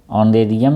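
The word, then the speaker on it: honorarium: एच ओ एन ओ आर ए आर आई यू एम ऑनरियम means मानदेय होता है। इसको आप एच ओनेरियम ही पढ़ना। वैसे ऑनेरेबियम पढ़ते हैं। तो स्पेलिंग याद रहेगी।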